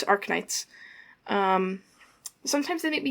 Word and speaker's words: Arknights: the game name that I am pronouncing Ark Knights right I was worried that it might be arits um but no it's AR Knights um sometimes they make